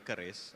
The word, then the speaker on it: QRIS: So commenting on Vince's correct pronunciation on CRIS, I had the pleasure of being on the same panel with Ibu Fili, and then I mistakenly said QRIS instead of CRIS, and then she immediately